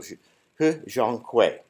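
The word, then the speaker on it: He Jiankui: I say that carefully because there are a lot of different pronunciations for his name, but I went to Chinese TV and listened in. So He Zhonghui.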